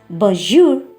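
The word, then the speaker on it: bonjour: We pronounce it as bajour.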